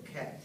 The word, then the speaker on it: cat: At，对，我们读那个猫那个地方，刚才凯瑞听出我们发音的不准确，是 cat，不是 cut，不是 cut CUT